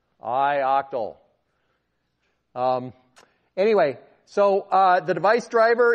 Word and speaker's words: ioctl: the thing that's doing the eye octal that's how you spell it by the way ioctl how many people think that should be IO cuddle good good good I octal anyway so the device